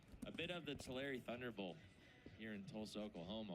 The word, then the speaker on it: Tulare: Like every time you go to Tulare, you're Well, that's how you pronounce it. Tulare, not you Tulare.